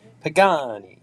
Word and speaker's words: Pagani: on Jeff's Jeff's pronunciation in Italian you pronounce every letter so it's like and you got to say it's like Pagani you gotta say like it's a pasta uh I I would